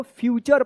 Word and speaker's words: future: तो the Bush is near the river, the फ्यूचर पढ़ेंगे इसको, FUTURE, इसको आप फुटरे मत पढ़िएगा, क्या पढ़ेंगे इसको, फ्यूचर पढ़ेंगे।